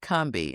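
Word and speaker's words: Combahee: was going to write a book about the Cumbi raid.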